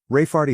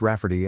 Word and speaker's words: Rayfarty: my sister wanting to name my niece Rayfarty, pronounced Rafferty and not at all like Ray Farty.